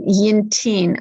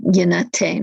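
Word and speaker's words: יִנְתִּין: And Yintin, okay, that's more of the Aramaic pronunciation than Yinatain, which would be more the Hebrew pronunciation.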